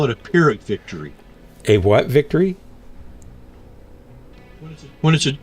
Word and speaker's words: Pyrrhic: Is it Pyrrhic? Like a F sound? Or do you pronounce the P? Pyrrhic. I've always pronounced it with the P.